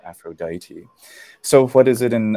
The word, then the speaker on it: Aphrodite: Greek and the uh the long e sound regularly becomes I and so Aphrodite so what is it